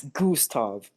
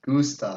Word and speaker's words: Gustav: It's Gustav. Gustav? Gustav. Yeah, say Goose and then Tav. Gustav.